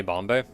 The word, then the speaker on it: Bombe: game is called bombe it's just bomb with an e on the end so I don't know if you like don't pronounce the e um I'm going to say Bombay but this game i'